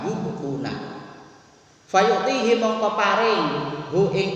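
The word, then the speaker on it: يُبْقُونَ: Ya wa yahdifunaha wa yubquna bukan wa yaquna bacanya wa yubquna.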